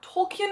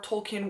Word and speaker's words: Tolkien: Tolkien, I think is how you pronounce his last name.